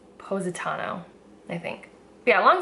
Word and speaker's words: Positano: It's Positano, I think.